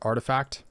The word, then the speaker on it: RTFKT: what rtfkt is um i guess it's pronounced artifact it's a crypto collectible